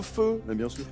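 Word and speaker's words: phở: Le ramen ramen, c'est japonais, c'est pas vietnamien, c'est le feu voulez. Oh là là ! La soupe feu.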